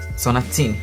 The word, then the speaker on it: sonatine: let's go to another quote, that i highlighted Four girls then gather to sing a ''Sonatine'' the Sonatine or how it's pronounced Sonateene to cast an arcane